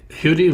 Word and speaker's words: Huddie: first name correctly yes there's no no total agreement about it but he seemed to pronounce it somewhere between muddy and Hoodie so yeah I had